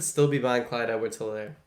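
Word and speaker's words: Helaire: be buying clyde edwards told her clyde edwards either i've heard that h is silent but i would still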